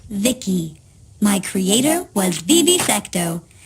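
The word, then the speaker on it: Vici: transistors by the way I'm v-i-c-i pronounced Vicky my Creator was Vivi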